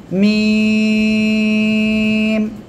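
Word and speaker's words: ميم: হ্যাঁ, এরপরে মিম। সবাই একসাথে বলেন। এই অক্ষরটা কোন জায়গা থেকে উচ্চারণ হবে জানেন? এই যে 2 ঠোঁট, 2 ঠোঁটের শুকনো অংশ বা বাইরের অংশ থেকে, এই যে মিম, মিম।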